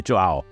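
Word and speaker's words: João: Actually, Joao, I think is how it's pronounced.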